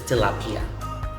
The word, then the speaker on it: tilapia: Now, tilapia has a new Latin origin, and in our dialect, we pronounce it very similar to the English pronunciation, which is tilapia.